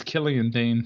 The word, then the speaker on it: Killian Dane: And eventually, Mojo eliminated is it Killian or Killane? I think it's Killian Dane.